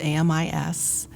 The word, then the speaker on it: AMIS: AMIS stands for Atlanta Ministry with International Students, AMIS. AMIS spells the French word for friends, so we pronounce it with the silent S. AMIS was founded in 1978 by the Reverend Dr.